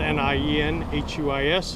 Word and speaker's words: Nienhuis: Again, my name is Hernando County Sheriff Nienhuis, spelled N-I-E-N-H-U-I-S, and it's pronounced Nienhuis.